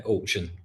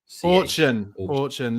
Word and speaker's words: Orkun: Yeah, Orkun. Orkun.